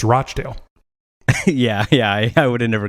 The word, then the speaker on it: Rochdale: It's pronounced Rochdale, though, by the way, though the way you say it sounds much better." Again, I'm surprised by how a UK place name is pronounced. Not Rockdale, it's Rochdale.